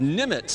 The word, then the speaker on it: Nemec: I had to slow down to say that because it's spelled out Nemec, but it's pronounced Nimitz. That's correct. Just like Admiral Nimitz from World War II fame.